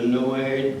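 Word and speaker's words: Noailles: he marries this lady Adrienne de Noe you pronounce that in no way I know it doesn't look like it but that's it and I have uh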